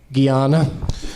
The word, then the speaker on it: Guyana: Guyana. It's Frazier. There's two things that piss off Brendan Fraser, and it's mispronouncing Frazier and Guyana.